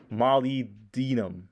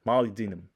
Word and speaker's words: molybdenum: Molybdenum. Molybdenum. I think if you say it fast, it makes you sound smarter. Molybdenum.